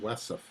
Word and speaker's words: WESF: northern exterior of the wessef building and wait doe loves to use acronyms and so the waste encapsulation storage facility w esf is pronounced as an acronym wesson um quite commonly it is